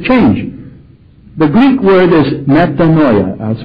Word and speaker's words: metanoia: The Greek word is metanoia. I'll spell it in English.